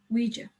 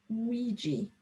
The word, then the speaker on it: Ouija: me wonder if they'd played the game before ouija he muttered i knew the name you pronounced it luigi grandad said it was what the victorians did